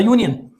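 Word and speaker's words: union: अ यूनियन अ यूनियन देखें यहां पे फिर यू आया हुआ है आपने इसको नहीं देखना है कि ये वोवेल लेटर है इसलिए हम कहते हैं कि इसके साथ जो है एन आएगा तो नहीं हमने इसके साउंड को देखना है कि साउंड कौन सा बिगेन कर रहा है अ जो तीसरा एग्जांपल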